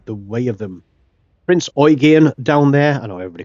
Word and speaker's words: Eugen: get out of the way of them Prince oan down there I know everybody calls it Prince Eugene even I call it the prince Eugene but torsson is German and it is pronounced oan so there we go um we'll do it